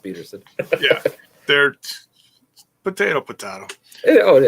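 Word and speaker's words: Pederson: They're all it's down Pedersen, but it's pronounced Peterson.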